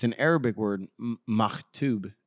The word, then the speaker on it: Maktub: Maktub is, I believe, how it's pronounced, but M-A-K-T-U-B.